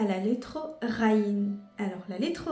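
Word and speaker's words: غين: Et pour la prononciation, c'est presque le R. Le R par exemple, le ra, le R dans forêt, ça fait pareil que le ra.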